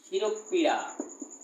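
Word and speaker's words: শিরঃপীড়া: শিরোপীড়া, এটা এটা উচ্চারণ হবে কি শিরোপীড়া। তাহলে শিরো বিসর্গ পীড়া, শিরোপীড়া।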